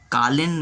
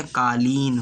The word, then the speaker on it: कालीन: channel में गलत करना मुझे कॉलिंग नहीं होता कालीन होता है का धुंध इसमें दुर्भाग्य